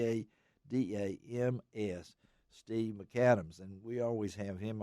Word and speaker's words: McCadams: right Steve Mac Katims we pronounce it McAdams but that's the way it is MC capital C a DA m/s Steve McAdams and we always have